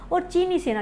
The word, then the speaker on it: Tso: लेकिन दूसरी बात कर लेते हैं कि पेगोंग सो, क्योंकि जो क्वेश्चंस हैं वो यहीं से बनते हैं कि इसका अर्थ क्या है। पेगोंग सो, आपको पता है TSO लिखा हुआ है इसको, इसमें T साइलेंट होता है और सो ये उनके